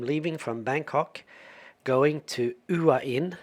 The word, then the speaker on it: Hua Hin: Hey, in this one I'm leaving from Bangkok going to Uain, not Huah Hin as I've been pronouncing it.